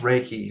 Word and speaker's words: Reiki: the audience that might know know what the Riki uh thing is am I pronouncing that right too it's pronounced Reiki like a see that's why you're the professional